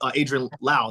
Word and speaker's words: Adrienne Lau: And I'm like, Adrienne Lau. Is that did I pronounce it right?